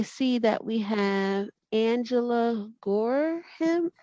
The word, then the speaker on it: Gorham: And I see that we have Angela Gorham. Am I pronouncing your last name right? Yes, that's correct, Angela Gorham.